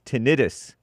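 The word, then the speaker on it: tinnitus: It's tenitis, not t not tenitis.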